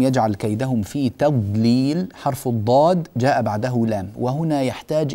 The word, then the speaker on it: الضاد: ان تضبط بشكل صحيح الض الض هكذا تنطق الضاد الضاد الضاد نلصق اللسان في الحنك الاعلى بما يحاذي الاضراس اذا حافتاه اللسان مع ما يحاذيها من الاضراس العليا هذا هو موضع خروج الضاد طيب ما هو الاشكال